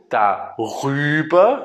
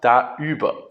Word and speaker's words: darüber: So, and in order to be able to pronounce this better, we say an R in the middle. So darüber instead of daüber or darauf instead of daauf.